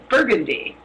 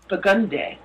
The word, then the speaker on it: Burgundy: differently but for instance there's a street here that when I read it it says burgundy but they call it bugundy oh come on oh